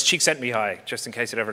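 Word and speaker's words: Csíkszentmihályi: tough room um so it's it's cheeks sent me high just in case it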